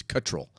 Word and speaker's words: Cottrell: Cottrell. I asked Bobby. I said, Bobby, tell me how to pronounce your name. I've heard Cottrell. He says Cottrell.